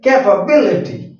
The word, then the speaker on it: capability: come before c and when we pronounce the words capability then the stress will come before B so this is the